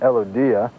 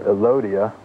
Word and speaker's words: Elodea: Here's another type of algae called Elodea, or Elodea, however you want to pronounce it.